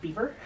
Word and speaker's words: Belvoir: bested I think that Amanda told me that the um pronunciation of that brand is actually beaver beaver really yeah or something is that an r no that's definitely an L I know but I